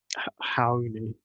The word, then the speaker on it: Raoni: let's talk about um Hoy that's how you pronounce his name in Portuguese by the way Hoy ridiculous name let's